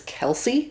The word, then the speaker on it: Kelsea: The main character's name, for example, is Kelsey, but it's spelled Kelsea.